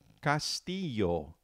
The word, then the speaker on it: castillo: It's castillo. Castillo. We have cas t yo. Now remember which letter in the alphabet makes that y sound.